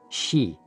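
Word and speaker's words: xi: with the spleen and x-i pronounced like she which connects the whole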